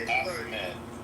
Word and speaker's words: Ahmed: I think it's Ahmed. No, it's pronounced Ahmed.